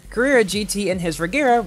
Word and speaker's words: Regera: at gt and his regera which i guess does rhyme with carrera 10 gram in his